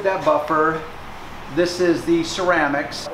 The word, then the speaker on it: Ceram-X: This is the Ceram-X. It's kind of a play on words. It's like ceramic coating, but it's Ceram-X. So you just pronounce it Ceram-X.